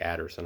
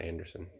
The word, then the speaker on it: Adderson: Randy Adderson, I'm sorry, not Anderson. I was making sure I wasn't reading his name wrong, and I was.